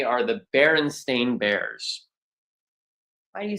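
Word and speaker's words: Berenstain: bears in history, I would say, are the Baron Stain Bears. Why do you say it like that? Because most people think it's the Baronstein or the Baronstein because a lot of people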